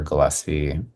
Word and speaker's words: Gillespie: Just my name Tyler T Y L E R Gillespie. Perfect. It's Gillespie on Gillespie. It's not like the the the jazz player. It's it's a hard G. Gillespie like Gilman.